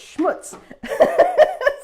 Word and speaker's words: schmutz: Heidi August is, she follows along, and she messaged me and she says, you're not quite saying it right. I think it's schmutz.